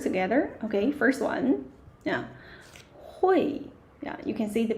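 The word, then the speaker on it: 会: Hui. Yeah, you can see the pinyin and how to pronounce it. H u i hui. Hui. Yeah, falling tone.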